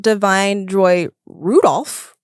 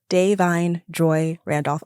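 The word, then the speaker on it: Da'Vine Joy Randolph: so my journey has been I've been saying Divine Joy Rudolph first of all yes okay and then I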